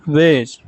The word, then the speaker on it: wares: The market बसल्ड with activity in broad day light with vendors shouting there वेज, इसको वेज बोलेंगे मतलब माल या सामान, WARES वेज।